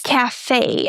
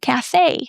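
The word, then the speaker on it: café: So it's cafe and we stress the second syllable, cafe.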